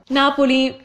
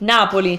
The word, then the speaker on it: Napoli: do the trick yeah next one Napoli not believe Napoli so that would be Naples in English Naples is the English version with an English accent you would say Natalie Napoli like the important thing babies - oh not PO yeah and it's closed Napoli I mean you can